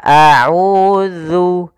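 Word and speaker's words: أَعُوذُ: Agar sempurna daripada makhraj huruf zal, yaitu makhrajnya adalah kita keluarkan ujung lidah kita, ujung lidah kita tempelkan dengan geser atas. Maka za, zi, zu. Maka a'udzu, a'udzu, zu, zu.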